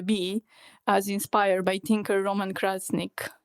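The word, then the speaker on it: Roman Krznaric: as inspired by Tinker Roman Krasnik. Is that how you pronounce his name? Does anybody know? You pronounced it perfectly with Balkan English.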